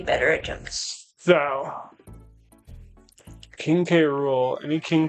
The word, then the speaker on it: K. Rool: Yeah, but they call him K- Rule. And I'm like, that's not how you say it. It's not It's K Rule. If you're going to like not pronounce it as an initial, then just call him King Cruel at that point.